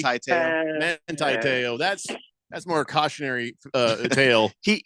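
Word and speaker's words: Manti Te'o: So now let me ask you this: Manateo? Not really. Manti-Teo.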